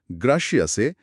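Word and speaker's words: gracias: ধরুন প্রথম শব্দে অর্থাৎ গ্রাসিয়াসে জি এর পরে একটা কনসোনেন্ট আর আছে।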